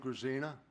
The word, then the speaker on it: Grzina: Next person is Grisina, and I probably just mispronounced that altogether. Yes, my name is Grisina.